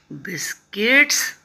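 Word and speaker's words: biscuits: आई eight बिस्किट्स. बिस, यू तो silent रहता है.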